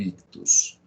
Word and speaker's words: ictus: se escreve aberratio ictus pronúncia aberratio uti em latim tem som de c aberratio ictus ok que que acontece